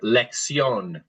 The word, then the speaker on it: lección: Let's try the word together, lección. Lección. It's almost as if the double C is an X, so let's try it as lección. Lección. Yeah, with the pop on the O, lección.